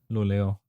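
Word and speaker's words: Luleå: How do you pronounce that? Lulea? Luleo.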